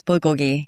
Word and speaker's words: bulgogi: Now, am I pronouncing this right? Bulgogi. Yes. Bulgogi.